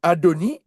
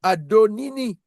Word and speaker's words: Adonai: Alors, on explique que autrement dit vous ne prononcez pas un double i. On va pas dire hi vois. On va ici on dit Adoni. On va pas dire et non Adonini.